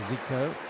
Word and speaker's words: 繼科: the brazilian midfielder zico is his given name at least close to zico i suppose that's how